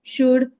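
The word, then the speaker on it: should: for these words you शुड यूज़ एज कुड शुड वुड okay L is silent in that most of the times वो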